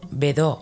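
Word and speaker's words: Bedaux: y desarrolla su sistema el método bedau pronunciado bedo en francés Es un sistema que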